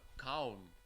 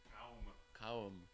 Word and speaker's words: Cowm: Cowm. Cowm.